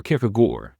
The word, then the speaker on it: Kierkegaard: And the answer here is Søren Kierkegaard, or Kierkegaard is the Danish pronounce it.